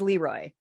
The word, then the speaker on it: Le Roy: So welcome to Leroy, New York, otherwise pronounced as Leroy.